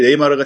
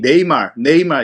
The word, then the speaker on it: 네이마르: 팬들이 불러줬던 것을 이제 네이마르가 새롭게 이제 별명을 얻게 됐는데, 사실 이제 네이마르의 발음이 네이말 이렇게 쓰거든요. 근데 한국에서는 이제 네이마르 이렇게 부르니까 이런 것들이 재밌었던 것 같아요.